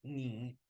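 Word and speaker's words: 你: La N con la I simplemente pronunciamos ni, ¿cierto?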